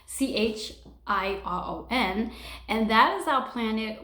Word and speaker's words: Chiron: And then we also have this little planet called Chiron. I always say it wrong. Chiron.